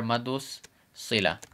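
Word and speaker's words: مد الصلة: So this is how we'd spell it: Maddul Silah. And this would be hurufu shamsiya, meaning sun letter. So we cut the L out and put the S there, Maddus Silah.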